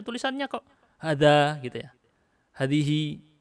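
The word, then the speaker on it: هذه: Hadihi, ini bacanya haknya dipanjangkan, alifnya dihapus.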